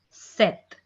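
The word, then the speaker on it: sept: 7 is pronounced as set. Set. P will be silent here.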